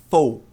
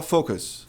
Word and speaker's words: focus: A primeira é focos. Ah, tá errado. A pronúncia correta é fus. Fus. É muito importante começar com esse ou f. Por quê? Por causa disso aqui. Muita gente fala focus. Focus. Que soa muito parecido com isso aqui que eu tenho